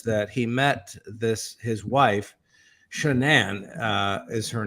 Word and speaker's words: Shanann: he met his wife, Shanann is her name, and it looks like Shannon, but it's pronounced Shanann. I always thought it was Shannon.